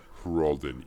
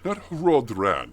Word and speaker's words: Hrolden: nice little nap in the old Hrolden Inn. Not Hraldran. I was apparently misinformed as to the pronunciation, also the location, because it has momentarily disappeared from my mini-map, and that was slightly concerning.